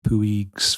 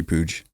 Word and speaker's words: Puig: I have 3 different Ricky Puig Evos going on. Puig. That's how they say it here. I think it's Puig. Puig. That's how they say it on MLS, whatever, on Apple.